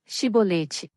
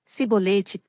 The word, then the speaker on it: Shibolete: Se respondesse que não, diziam: "Então diga, Shibolete." Se ele dissesse, Sibolete, sem conseguir pronunciar corretamente a palavra, prendiam-no e matavam-no no lugar de passagem do Jordão.